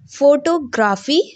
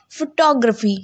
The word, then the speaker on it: photography: graphy, graphy, photography. It's a wrong pronunciation because the correct pronunciation is photography.